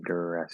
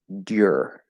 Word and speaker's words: duress: The other way that I've heard it pronounced and that I sometimes say it would be dur. And I wouldn't describe that as oo plus I would describe that as y plus vowel.